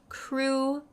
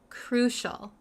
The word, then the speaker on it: crucial: the pronunciation really quick the pronunciation is crucial crucial crucial um sometimes I know some students have a hard time pronouncing it uh because it it doesn't look how it's pronounced but cral sounds like an sh crucial okay let's look at